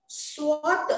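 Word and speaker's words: swath: okay और स्वाथ देखिए यहाँ पे एस डब्ल्यू ए टी एच है लेकिन वो उसको स्वाथ ओ का प्रोनाउंसिएशन है और ये एक मतलब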